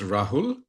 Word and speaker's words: Rahul: Yes, my name is Rahul.